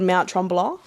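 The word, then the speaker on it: Mont Tremblant: So that was actually the track in Quebec, so still in Canada, at a place called Mount Tremblant. That's how they say it.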